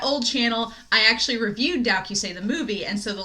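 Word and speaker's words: 同級生: it's translated to classmates but in japanese it's dow kyusei and so uh when i had my old channel i actually reviewed dowky say the movie and so the link to it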